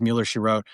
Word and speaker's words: Mueller She Wrote: Mueller she wrote. Did I say it right this time? Finally. Merro.